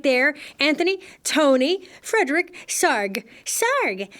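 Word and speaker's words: Sarg: our guy right there Anthony Tony from Fredick SAR SAR rhymes with ar thanks little guy that's Tony SAR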